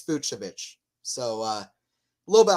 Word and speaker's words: Fucsovics: hard to pronounce yeah I thought it was uh fuksovich before uh commentating on the match I looked it up on the ATP I think it's fuchsovich so uh a little